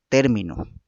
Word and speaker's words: término: Pero la primera tiene una tilde y cabalmente es la acentuación que se da en esa palabra, término, en la primera sílaba, ¿no es cierto?